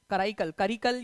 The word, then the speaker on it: कराईकल: चोलास थे उनका राजा, करिकल या कराईकल जो भी आपका प्रोनाउंसिएशन करना है आप लोग कर सकते हो, कराईकल उसका जो है करेक्ट प्रोनाउंसिएशन है।